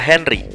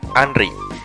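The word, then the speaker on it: Henri: mewah dan ini adalah Henry tapi lebih tepat jika namanya diucapkan Anri karena dia orang Prancis Kamu mungkin sudah tahu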